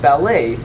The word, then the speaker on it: ballet: remember that in french if you have a a sound at the end it's probable that you'll have a spelling like e t since the t becomes silent the part of speech